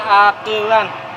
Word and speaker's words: akelan: Ini nasi akelan, bahasa Sundanya akel, bukan akelen ya, dibacanya akelan, di akel.